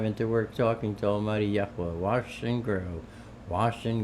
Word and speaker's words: Yahweh: all the Hebrew stuff for years, and then pronouncing the Father's name properly, Yahweh, for years, and who have now nixed the whole thing.